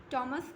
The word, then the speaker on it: Thomas: One more thing, Hindi में थॉमस और English में प्रोनाउंसिएशन टॉमस ग्रे.